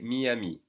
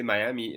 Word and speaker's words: Miami: they sound for instance the city of miami is going to be pronounced miami okay miyami and if you say miami a lot of french people will not understand so make sure you say miyami then we have obviously paris